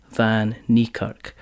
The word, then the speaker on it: Van Niekerk: so as I say joining me is Van nerk um so hello hello you nailed the pronunciation that's cuz I've written out phonetically perfect